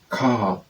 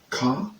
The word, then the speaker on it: car: They have in French R is always strongly pronounced at the back of the mouth. Therefore, car, because in French it's not pronounced the same way as the English word car, where this R is hardly heard, but as car, sa, car.